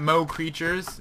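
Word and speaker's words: Mo' Creatures: get mo creatures cuz you have to say it like that Mo Creatures because that's what it is um but the problem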